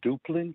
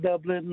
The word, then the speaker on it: Duplin: of all and foremost we are in duplin county not dublin not duplin or any of the above phonetically spell d-o-o-p-l-i-n duplin county uh secondly i would